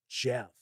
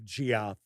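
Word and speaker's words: Geoff: funny little side note it's G it's GE FF I can't tell you how many years I went not realizing that that's pronounced Jeff is how my first name is spelled yes it is Jeffrey not Jeff I and I swear I thought it was the duci of Gio never even clicked and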